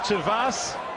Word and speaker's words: Vaes: can be Wow - vos and I promise you I've checked the pronunciation it is that while jurors in out